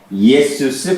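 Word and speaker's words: Ἰησοῦς: 그리스도스, 예수스 크리스토스라고 하는데 보통 이걸 빼죠. 예, 그냥 예수스라고 하죠.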